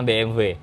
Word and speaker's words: BMW: Kalau orang Inggris pakai bahasa Inggris BMW. Bahasa BMW itu berarti benar juga. Benar. Tapi kalau orang Jerman emang BMW. BMW. W-nya dibacanya W. BMW.